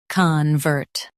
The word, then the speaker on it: convert: con vert convert Stress vert and keep con soft.